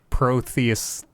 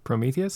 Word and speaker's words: Prometheus: understand it okay it's it's a lot like protheus or that's what it's i'm not saying it right what is the name of that movie prometheus prometheus thank you yes uh it's a